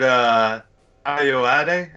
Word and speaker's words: Ayoade: Well, I mean, it's Richard Ayoade, I believe it's pronounced.